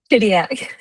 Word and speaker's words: Chidiac: Shidiac? Shidiac. Shidiac. Shidiac. I'm so I'm so I'm so bad at pronunciation with certain stuff.